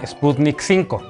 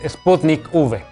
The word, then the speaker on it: Sputnik V: vacuna no se llama sputnik 5 la ub no corresponde al número 5 romano sino que hace referencia a la palabra vaccine o vacuna así que no caigas una paparruchada la forma correcta de pronunciar el nombre de esta vacuna es sputnik v por cierto esta es